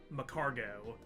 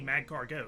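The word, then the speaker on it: Magcargo: okay I get it the one that drives me crazy is uh macargo the Pokemon because in the anime and an official sources they say macargo but like it's es cargo so it should be mag cargo that's the pun agree with you on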